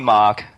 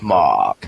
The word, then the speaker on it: Marc: So properly pronounced, it's pronounced in your Arnold Schwarzenegger accent, Mahk. Okay, Mahk.